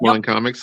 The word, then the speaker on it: Mon Comics: Am I saying that right? Is it Mon Comics? Is that how it's supposed to be pronounced? It is Mon Comics.